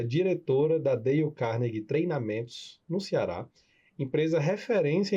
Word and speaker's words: Carnegie: Dale Carnegie.